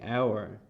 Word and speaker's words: hour: and in this case the h in hour is silent so we say hour he is an hour